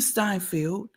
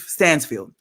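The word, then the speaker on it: Stanfield: So I'm online with Fat Joe 3 different times, LL Cool J, Sway, Daz Dillinger, Lakeith Steinfeld, I'm sorry, how do you say his last name? Lakeith Stansfield.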